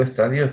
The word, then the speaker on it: estadios: Y digo estadios porque poner acento en la I no es correcto.